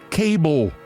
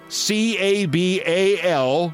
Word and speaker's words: cabal: She thinks the word cabal is pronounced cable. C A B A L C cabal.